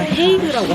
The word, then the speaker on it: The Hague: 덴하그라는 도시가 약간 좀 낯설게 느껴질 수도 있는데 아마 헤이그라고 하시면은 헤이그는 들어봤어 하시는 분들이 많을 거예요. 덴하그를 영어식으로 발음한 게 헤이그예요.